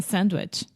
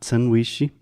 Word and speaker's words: sandwich: So, not sanduíche. There's no E at the end. Sandwich. Sandwich. Yeah. And most of the time, if we are speaking quickly, we almost don't even say the D sound in the middle of this word. We simply say sandwich.